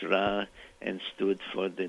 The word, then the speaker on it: Ra: in it in the center, which is really pronounced Ra and stood for the name of the supreme god of Egypt, Ra.